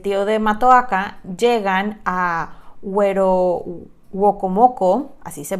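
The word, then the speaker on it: Werowocomoco: el pueblo del tío de Matoaka, llegan a Wokomoko, así se pronuncia, así se llama el pueblo, no lo estoy inventando, que es donde lo estaba esperando Powhatan, el papá de Matoaka.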